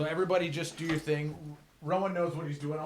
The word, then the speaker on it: Ro Han: Rowan knows what he's doing. I want to talk about your name because you spell it Rohan, but Will told me to get pissed off when people call you Rohan.